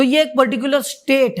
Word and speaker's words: pseudo: पश्चिम उदो कहते हुए लेकिन यह सूट है इसे आप लोग पी को हटा दो ठीक है मतलब पी साइलेंट है इसमें तो ठीक है